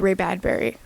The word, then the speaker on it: Ray Bradbury: Even if you've ever read Ray Bradbury, that's how you say his name, his writing is almost very poetic.